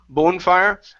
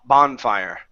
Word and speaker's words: bonfire: is bonfire right here instead of bone bonefire a b bonfire bonfire good the bonfire